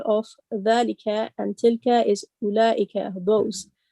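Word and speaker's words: أولئك: dhalika and tilka is ulaika, those. Note that the waw in ulaika is not pronounced. The word is pronounced as ulaika, not ulaika.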